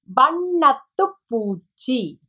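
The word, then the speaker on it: வண்ணத்துப்பூச்சி: Bannatupuchi, bannatupuchi.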